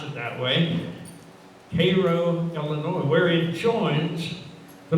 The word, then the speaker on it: Cairo: is spelled just like chiro but they don't pronounce it that way cairo illinois where it joins the mississippi so this